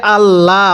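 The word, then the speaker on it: الله: কারণ আল্লাহ শব্দের লামের পূর্বে যদি এরকম জের থাকে তাহলে এটাকে আল্লাহ অর্থাৎ বারিক করে পড়তে হবে।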